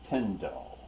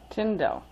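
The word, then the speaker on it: Tyndall: n his name is t y n d a l l but it's pronounced tindel tindel okay uh he was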